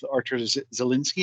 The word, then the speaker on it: Artur Zielinski: interactive, and meaningful chatbot with Power Automate with Artur Zielinski. Am I pronouncing that correct?